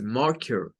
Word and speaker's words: marker: Y luego marker con el schwa. No es ker, porque si usted dice marker, se lo está diciendo muy acentuado del español latinoamericano. Es marker.